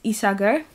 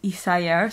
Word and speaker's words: Isager: yeah, so they use Isager yarn, and in the book there's a phonetic pronunciation in Japanese for Isager, and it says Isaga, so I'm pretty sure that it's with a hard G, because if not, in